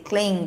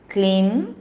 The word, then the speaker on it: Klim: If you've been initiated, then you can say Kling, Gakara or say Makara. Klim or Kling, if your Guru has given you Kling. That is Gakara pronunciation.